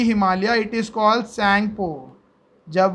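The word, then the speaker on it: Tsangpo: पे उसका नाम है सैंगपो। टी सैंगपो बोलो आप चलेगा, या सैंगपो बोलो, टी साइलेंट रखो।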